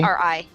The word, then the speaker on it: Ari: Pronounce that completely? Ari? Ari. Ari? A-R-I. Ari. Okay.